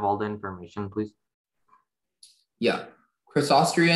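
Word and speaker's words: Crassostrea: Crossostria is the only pronunciation.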